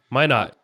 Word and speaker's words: Minot: Minot.